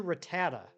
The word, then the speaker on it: Rattata: uh anime it was it was ratat ratata and that's how everybody of our J pronounced it ratata and at some point I don't know when it was it got changed to Rattata and no I I won't I want that's another one of those that I don't care if I'm wrong I ain't changing there's one Pokemon storage